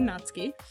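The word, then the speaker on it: Natsuki: and that is how you say her name natski and you may recognize this out fit I'm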